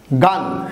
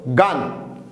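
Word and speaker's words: gone: ভি3, তোমরা জানো হ্যাড গান, হ্যাড গান, ওয়েন্টের ফার্স্ট পার্টিসিপল হলো গান। অনেকে কিন্তু ভুল উচ্চারণ করে গন বলে, গন হবে না, এটার উচ্চারণটা হবে গান।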